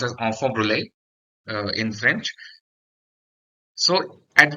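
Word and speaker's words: enfant brûlé: in French is known as onfor actually is pronounced as onfor Brule uh in French so at time of birth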